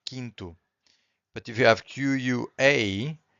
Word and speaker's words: quinto: If you have Q-U-I, the U is also silent. Quinto.